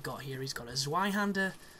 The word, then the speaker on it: Zweihander: He's got a Zweihander, or a Zweihander, as I prefer to call it, because, you know, you pronounce the V like that in German, and it's just a bit more authentic.